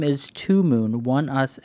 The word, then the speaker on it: ONEUS: love that song okay one us pronounced one us is a south korean